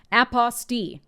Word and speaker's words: apostille: It's spelt like apostille, but it's pronounced apostille, according to the lady at my Secretary of State's office. It's French, I don't know, but having